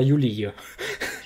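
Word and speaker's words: Yuliy: Donc vous prononcez ça comme vous voulez. Moi je vais dire Yuli.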